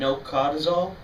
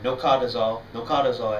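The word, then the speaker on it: nocodazole: Two of them that we're going to look at just now, colchicine and nocadozole, or nocadozole I think is the proper pronunciation.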